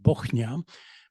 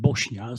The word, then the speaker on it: Bochnia: I remember specifically a deal when there was a Norwegian company and a Polish company, which is located in Bochnia, but the client pronounced that Bosnia, so I was expected